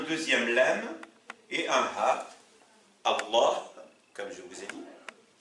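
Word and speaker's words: الله: Prenons le mot Dieu, par exemple, en arabe, c'est Allah. Et vous savez que un francophone qui a du mal à prononcer le ha, il ne pourra pas dire Allah, du coup il dira Allah.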